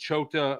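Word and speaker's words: Choate: Coach Chota uh Chote of uh Nevada says he's very good Ch what?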